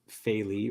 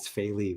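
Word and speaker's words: Faile: Other than the fact that it's the father of Faili or Fail, however you pronounce it. Whatever. Well, no, Alex from our rewatch pronounces it as Faili, which I thought was fucking hilarious.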